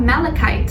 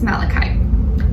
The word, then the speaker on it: malachite: And as your crystal of the week, you guys got malachite. Is that how you say it? Malachite or malachite? I think it's malachite. M-A-L-A-C-H-I-T-E. Yeah, malachite.